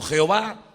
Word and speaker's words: Jehová: se puede pronunciar como Jehová o se puede pronunciar de muchas formas.